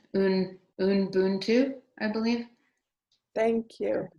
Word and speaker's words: Ubuntu: As people are typing, I want to thank Ashia for correcting our pronunciation. Ubuntu, I believe. Thank you. Correct. Ubuntu.